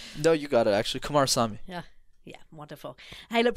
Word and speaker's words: Kumarasamy: and and so you give us the correct pronunciation of that before we finish no you got it actually Kumar Sami yeah yeah wonderful hey look Brendan it's been